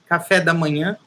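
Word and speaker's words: café da manhã: love eating actually uh we say cafe de mona it's a nasal sound you have to say that through the nose as we say like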